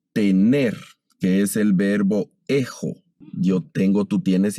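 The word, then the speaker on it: ἔχω: Entonces vamos a leer ejo, ejis, eji, ejomen, ejete, ejusi.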